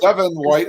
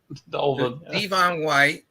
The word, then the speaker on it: Devon White: he goes Devin White instead of Devon. Devon White.